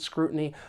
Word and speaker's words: scrutiny: additional scrutiny or constant scrutiny. There are quite a few collocations with this noun and they're all great to know. For pronunciation, the stress is on the first syllable, scrutiny. But I want to take